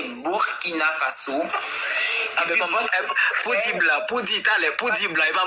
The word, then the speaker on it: Burkina Faso: Vous avez dit Burkina Faso, ça se prononce pas comme ça, c'est Burkina Faso.